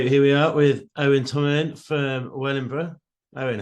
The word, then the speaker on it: Tomalin: But Owen Tomalin, or Tomlin, but it was Tomalin, he told me how to say it.